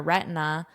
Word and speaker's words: retina: Notice how I pronounce this with the very flat T. That's how we say it in natural spoken English with an American accent. Retina. I even am pretty unstressed with this vowel. It almost sounds like two vowels.